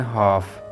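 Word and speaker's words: half: L silent होगा का word है हाफ यहां भी एल के बाद एफ आ रहा है इसलिए यहां पर एल जो है वह साइलेंट होगा दोस्तों इसी से मिलता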